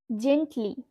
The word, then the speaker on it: gently: জেন্টলি, জেন্টলি। স্পেলিংটা দেখো, GENTLY, জেন্টলি। জি এর পরে আমরা কি দেখছি দেখো, ই লেটারটা রয়েছে। সেহেতু আমাদের এখানে কিন্তু জি এর উচ্চারণটা জ হয়ে যাবে।